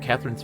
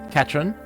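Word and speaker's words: Katran: really learned much about Katherine's family at all because her real name is not Katherine it's it's katron uh andus is just bad at pronouncing names final minty that was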